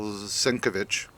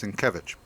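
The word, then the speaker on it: Sienkiewicz: um by uh Bill sovich uh svich S I keep getting that name wrong why is that um but it's svich all of all of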